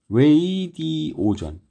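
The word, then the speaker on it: radio: 라디오의 원래 발음이 레이디오전.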